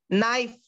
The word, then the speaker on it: knife: words 3ක් collect karagamu knife akuru wenas k akurak enawa knife kiyala NIFE වලට අමතර K අකුරක් කියලා. ඔක knife නෙමෙයි knife කියලා කියන්නේ K අකුර අපි දානවා silent letter එකක් විදියට.